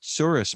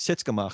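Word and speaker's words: tsuris: of a yiddish word the proper yiddish word is suris which is um like trouble troublemaker but my fa my grandfather for some reason called it sits which is string maker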